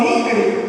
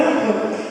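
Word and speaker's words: Ingres: Quem conhece Angra, aqui no Brasil lamentavelmente eles falam Ingrid, né? Mas a pronúncia correta é Angra.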